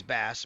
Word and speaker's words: Bass: it says pronunciations, and it says Bass pronounced like the fish.